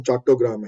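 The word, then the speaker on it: চট্টগ্রাম: ਚਿਟਾਗਾਂਗ ਹੋਈ ਹੈ ਵੀਰ ਜੀ, ਹੈ modern day Chittagong in Bangladesh, क्योंकि आई am from Bengal originally, तो बंगाली प्रोनाउंसिएशन चट्टोग्राम है, लेकिन जी उत्थे हुई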